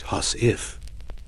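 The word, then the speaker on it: huswife: You reach for your husie, pronounced hus if.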